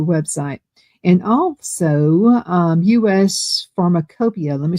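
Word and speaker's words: Pharmacopeia: And also um US Pharmacopia. Let me spell that for you. US and then P H A R M A C O P E I A. It's spelled a little differently than it sounds.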